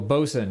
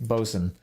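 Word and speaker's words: boatswain: Oh, Bosen. Yeah, I started saying it correctly as of today. Bosen, I looked it up as well and yeah, you're right.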